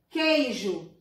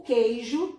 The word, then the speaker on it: queijo: Queijo. Queijo é dígrafo. Por quê? Porque o queijo, a palavra queijo, a gente não pronuncia o U.